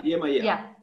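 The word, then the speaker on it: Yemayá: I think, if my pronunciation is correct, is Yemaya? Is it Yemaya? Yeah, Yemaya.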